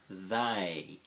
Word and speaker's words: they: They, th-a. 4 letters but only 2 sounds. Th-a, they.